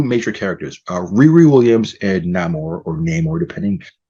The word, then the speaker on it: Namor: characters, Riri Williams and Namor, depending how you say his name. There's no right or wrong. I always said Namor, but they say Namor, and they say his name differently in the movie.